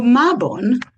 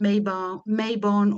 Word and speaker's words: Mabon: So Mabon, which can be pronounced Mabon or Mabon, and as you have noted, I go from one to the other.